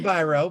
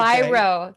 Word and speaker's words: Biro: And today I have a very special guest with me, Biro. Did I pronounce that correctly? It's actually Biro, but that's okay. Biro.